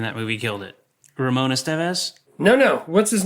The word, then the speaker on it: Estevez: initially cuz I was I was saying Ramon Estevez and you were saying Ramon Estevez. You were putting the wrong emphasis on the wrong syllable.